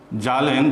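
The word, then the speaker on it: Zahlen: তিনি ওই গবেষণাপত্রে একটি জার্মানি ভাষায় একটা ওয়ার্ড লেখেন, যার উচ্চারণ হলো জালেন, GAHLEN।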